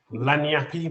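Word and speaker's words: lagniappe: to the second wine lanyappy my pronunciation um you could say it like that yeah it's a new orleans word it's called lanyard which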